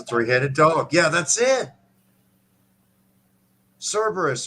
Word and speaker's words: Cerberus: dog yeah that's it cerberus or carberrus or caraperos depending on the old latin pronunciation we love you gamer